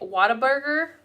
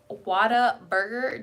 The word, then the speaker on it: Whataburger: Do you pronounce the R in burger? Because I hear you guys say it. I'm like, what the fuck? I don't know. Whataburger. Whataburger. I feel like I don't hear the R.